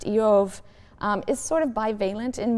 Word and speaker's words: Job: The name Job, which in Hebrew is pronounced Eov, is sort of bivalent in meaning.